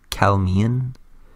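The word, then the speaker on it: Calymmian: try my best so we're gonna start with the cal mean I hope that tells pronounce it it's spelled cael y mm I am so Cal Mian but Cal Mian period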